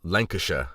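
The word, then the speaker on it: Lancashire: funny language you know how is it lanasha when it's spelled like Lan highshire butth that's just the way people talk so there you go Mal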